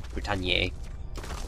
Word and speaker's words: Britanniae: But from that, Geoffrey of Monmouth created the Historia Regum Britanniae, or Britanniae, probably a bit more accurate pronunciation.